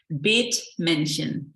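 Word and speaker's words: Bethmännchen: Will you pronounce the name again? Yes, it's Bethmannchen.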